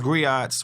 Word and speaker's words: griot: older as we as griots, we as community leaders, Hold on. as black men, griots, You know good and well you can't put. First of all, that got 3 syllables in it.